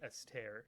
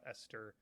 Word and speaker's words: Esther: Or I think you might even pronounce her name Esther, not Esther.